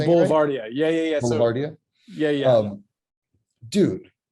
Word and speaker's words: Boulevardia: So, Boulevardia.